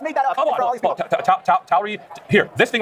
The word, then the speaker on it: Tauri: Tauri. Has anybody heard that word? Raise your hand if you've heard that word. Come on. No one has heard. You just made that up. Come on. Tauri.